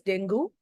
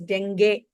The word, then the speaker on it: dengue: We all call it in India as dengue. The actual pronunciation is dengue.